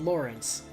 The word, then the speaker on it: Lorenz: would be pronounced like Lorenz how it's actually pronounced Lawrence I the game just